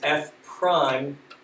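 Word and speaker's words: f′: derivative it has a notation that notation is f prime of x that's not a one doesn't mean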